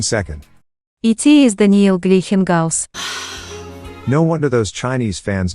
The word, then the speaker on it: Daniil Gleikhengauz: It is Daniil Gleikhengauz.